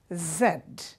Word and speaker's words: Z: x x y not y but why why Zed Zed the British say Zed the Americans say Z so this